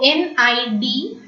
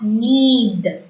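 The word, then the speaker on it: nid: So N-I-D is pronounced as ni and not need. Okay, D is silent.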